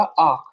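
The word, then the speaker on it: acht: इसको कैसे प्रोनाउंस करना है? जीबन। कैसे? जीबन। ये हो जाएगा आख, आख।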